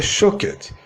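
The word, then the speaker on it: שֹׁקֵד: a pronúncia no hebraico a palavra Amendoeira se pronuncia shaked e a palavra velo que é o mesmo que vigiar se pronuncia shawkat se eu vou faz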